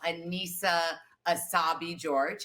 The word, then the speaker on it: Annissa Essaibi George: um oh and i should say it's um anisa asabi george is how you pronounce her name george yeah yeah and you